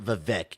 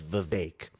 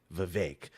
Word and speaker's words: Vivek: I know I was saying Vivek for a long time, but I guess you gotta think that it rhymes with cake, Vivek.